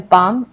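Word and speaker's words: palm: silent है जैसे कि जी यू ए आर्ड guard B ए एल बाम पी ए एल एम पाम इन सब में एल जो है वो साइलेंट है गार्ड में यू साइलेंट है एल बाम में हम एल बालम नहीं पढ़ते हम हम बाम बोलते हैं इसको हम पालम नहीं पाम पढ़ते हैं तो इन वर्ड्स में एल साइलेंट है मतलब एल है लेकिन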